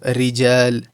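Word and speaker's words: رجال: Now if you look at ra with a kasra, it's going to be read empty. So rijal. Rijal.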